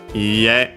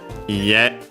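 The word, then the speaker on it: いいえ: Iie. Uh notice a high accent on the ha. Iie.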